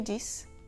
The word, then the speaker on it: dix: Le X de 6 et 10 se prononce [z] quand il est suivi d'une voyelle: "six amis", "dix amis".